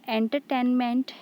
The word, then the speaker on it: entertainment: The word entertainment has four syllables. Okay, entertainment. So here enter, these two syllables are unstressed, ten is stressed, and ment is unstressed.